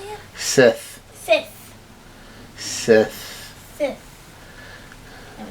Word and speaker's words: Sith: It sounds like you're saying fifth. Fifth. No, Sith. Sith.